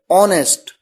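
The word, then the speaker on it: honest: प consonant sound है एन ऑनेस्ट यहां पर ववलू है ऑनेस्ट अ का साउंड है इसलिए एन का प्रयोग किया गया इसी तरह से देखिए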